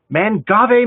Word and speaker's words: Mangave: to learn more about mangave uh i've learned two things so far how to pronounce it it's not man gave unless you're in europe and we'll talk more